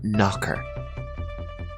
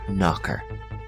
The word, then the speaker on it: knocker: is a noun door knocker repeat after me door knocker and here again the K is silent the word knocker comes from the verb